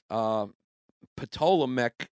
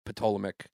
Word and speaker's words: Ptolemaic: See, much like Cleopatra, who was the last Ptolemaic ruler. I always have trouble pronouncing that. Ptolemaic. Yeah, because you're making it up. Ptolemaic.